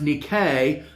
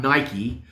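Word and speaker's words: νίκη: The Greek noun for which is Nike, pronounced Nike, not Nike, which is used only once in the New Testament, 1 John 5:4.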